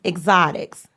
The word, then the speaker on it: Xotics: So the name of the product, again, is Exotics. Yeah. Okay, and can you spell that for the audience?